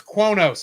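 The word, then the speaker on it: Qo'noS: And the guy couldn't figure out how to pronounce it because it's spelled Q-U''NOS. So he's going, and I just went, it's Kronos, and they misspelled it, the name of the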